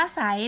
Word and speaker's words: ไซร้: กล้ำ แท้ นะ คะ ส่วน คำ ว่า ใส เป็น ยัง ไง ไม่ ออก รอ เรือ เลย ใช่ ไหม คะ แสดง ว่า เป็น ควบ กล้ํา ไม่ แท้ ค่ะ เศรษฐี เศรษฐกิจ อาศรม โศก